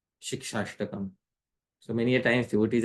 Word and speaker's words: Śikṣāṣṭakam: Then gradually when we become used to it, we can say Śikṣāṣṭakam. So this is how it should be pronounced properly. Otherwise, we may pronounce it incorrectly, Shishtastakam or something like that.